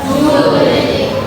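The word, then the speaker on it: joule: adalah satuannya adalah Jle tulisannya Jle bacanya Jul Jul Jul ya kan Jle ya Jul Terus F itu satuannya M itu apa?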